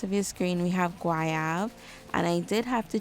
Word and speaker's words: Goyave: So it is Goyave, which means guava in French. So we have Goyave. Next we have Blush Pink, Addicted, Beige Babe, Sweet Sin, and Petite Goyave. Now Petite Goyave, I must say, out